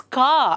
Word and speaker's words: car: For example, car anta helovaga CAR, car, but then you have to pronounce it as ka ashtenene. So it's not car, scooter. No, you don't have to pronounce that r sound there.